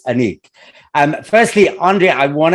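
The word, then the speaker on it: Anek: okay so firstly um the film is pronounced Anique right yes okay good because I was having this big my mom was like um I'm sure it's anik and I so we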